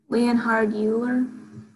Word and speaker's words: Leonhard Euler: is this guy anybody have their book open leonhard euler oh leonard euler not euler euler okay anybody know why this is pronounced euler this is the german guy's german